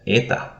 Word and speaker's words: eta: we have the letter eta eta it is also an e but longer so you will notice